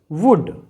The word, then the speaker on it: would: तो इसे हम प्रोनाउंस करेंगे वुड।